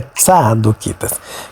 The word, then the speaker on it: zadoquitas: E lembre-se que a pronúncia é tzadoquitas, que esses sacerdotes, eles abandonaram o templo de Jerusalém porque eles consideravam que esse templo estava corrompido.